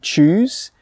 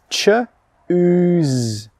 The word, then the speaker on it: choose: what's the difference between choose, C-H-O-O-S-E, and chose, C-H-O-S-E? Let's start with the pronunciation first. Choose, C-H-O-O-S-E, choose, ch-ooze. The sound in the middle, the vowel sound, is an oo sound, choose.